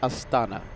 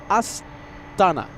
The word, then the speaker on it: Astana: Well, let's go for the Air Astana. Yeah. Air Astana.